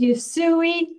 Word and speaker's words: Usui: no I said USU Hawaii it is yusui Reiki and it's life-changing life-changing it's so wonderful